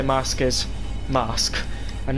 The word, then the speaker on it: Marske: stop is mask um at least I can pronounce that properly now because in one of my practice live streams I accidentally said masy which it isn't it's mask but I didn't know that so I now